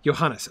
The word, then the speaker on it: Johannes: at the beginning but I was asking at the time syllables two syllables three in your name just curious want to make sure I'm pronouncing it correctly three yo.hannes okay great excellent all